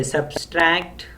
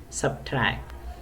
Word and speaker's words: subtract: restaurant should be restaurant we say substract we say sure if there is no sure there is subtract then we say depth